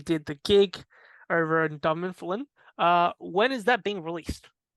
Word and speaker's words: Dunfermline: Very hard to pronounce. Yes. Dunfermline. Dunfermline, yes.